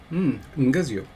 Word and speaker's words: nguzu: Nguzu. God bless you. What? So pre-nasalized G, followed by schwa, z, I, u. That's the proto form. Nguzu. Okay. Exactly.